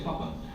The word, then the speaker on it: Papin: Aqui é um sobrenome, né, que você pronuncia Papin.